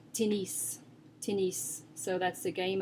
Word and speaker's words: tennis: I would think English, but it's tennis. Tennis. So that's the game of tennis, or, for example, tennis shoes. You do pronounce the S there, tennis.